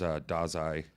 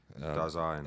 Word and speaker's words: Dasein: I have it written as Dasein. Dasein. I have it written as it's pronounced.